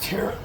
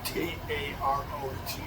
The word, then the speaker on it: tarot: I'm gonna tear it like the cards for the gypsies. T-A-R-O-T, tarot cards. But that's like tear it. Looks like it's spelled tear it.